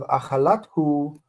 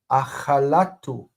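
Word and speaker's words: אכלתו: Now we have achalat hu, and that hey assimilates into the taf. Instead of achalat hu, we see achalatu.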